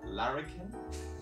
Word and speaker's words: larrikin: Your work, and I don't know if I'm pronouncing this right, larrikin?